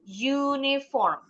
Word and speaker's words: uniform: Ini hurufnya U tapi bunyinya bukan U atau A. Bunyinya U. Berarti ini pakainya a uniform.